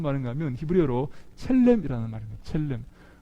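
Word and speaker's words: צלם: 첼렘. 첼렘이라고도 하기도 하고 첼렘이라고도 하는데요. 한번 따라해 볼까요? 첼렘.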